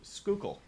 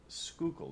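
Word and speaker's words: Schuylkill: been through there um it's a very very skookul skookul that's how you say that area there um M yeah it's spelled s u l y u y l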